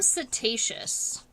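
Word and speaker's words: setaceous: And with these antennae, when they look hair-like, we call them cetaceous. It's spelled S-E-T-A-C-E-O-U-S, and it means, kind of CT-like, right?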